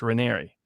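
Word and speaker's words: Raniere: apparently by the way his name is pronunciated like canary so it's rainery but that you could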